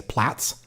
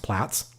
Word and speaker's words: Plates: um controversially pronounced uh apparently in Europe you say plats and people love to tell me that it's pronounced plats um but sorry I'm American so it's plates to me anyway um